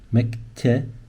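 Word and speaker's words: مكتبة: So the word is mektaba, but when you say it, you try to say mek. There's a ke, there's a te, mektaba. There's a b, definitely. There's a b, and there's that sound at the end.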